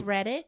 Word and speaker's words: Reddick: I think we're mispronouncing his name. It's Reddick. Let's put some respect on it. Lance Reddick.